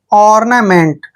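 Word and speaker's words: ornament: एम ई एन टी देखिए ओ का उच्चारण हम अ कर रहे हैं ऐसे अ आर को हमने लिखना है और एन ए को ना लिखना है और ना क्या हो गया और ना एम का उच्चारण मैं करते हैं ई को ए की मात्रा पढ़ते हैं एन को आधा न और टी को ट पढ़ते हैं मेंट ऑना मेंट ऑना मेंट होता है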